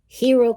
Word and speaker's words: hero: Hero comienza con H, hour comienza con H, pero aquí se pronuncia y aquí no.